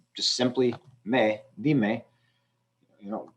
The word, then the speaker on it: dime: You know, di was the stressed syllable because it's the only syllable. And when I add another syllable with me, dime, di is still the stressed syllable, and it is the second to last syllable.